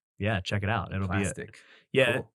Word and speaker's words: Plastiq: within the last year of a website called Plastic, which is really cool. For those you don't know, I think it's spelled PLASTIQ.